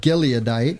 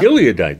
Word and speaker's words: Gileadite: Gite gadite gadite how do you say that gileadite yeah gileadite there we go and a mighty man of